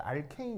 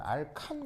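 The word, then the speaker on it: alkane: 다 발음을 어떻게 하냐면 여기 있는 a요 자리를 a 이렇게 읽으시면 됩니다 알겠죠 그래서 알케인 이렇게 읽으시면 되는데 옛날 이제 일제시대 때는 알칸 이렇게 이제 발음을 했거든요 알칸이라고 하건 알케미라고 하건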